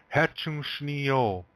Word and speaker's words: Hecun sni yo: Hetchushni yo. Hetchushni yo. One more time. This is how man says it. Hetchushni yo.